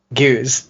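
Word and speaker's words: Gueuze: Maybe you should pronounce it. Goose.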